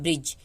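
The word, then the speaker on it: bridge: डी आए, ठीक है, तो डी साइलेंट होता है। जैसे यहाँ पे देखिए, इसको हम पढ़ते हैं ब्रिज, ब्रिज पढ़ते हैं ना, ब्रिज, ब्रिज क्यों नहीं पढ़ते हैं, ब्रिज पढ़ते हैं।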